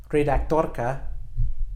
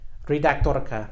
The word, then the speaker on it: redaktorka: a Czech word that has two rolling R's great actor coca and in that second are you can really hear that are click great dodoka keep practicing you're rolling are starting with the